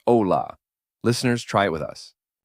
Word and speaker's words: hola: Hola. The H is silent in Spanish, so you never pronounce it. Right, so it's not hola with an H sound, it's ola.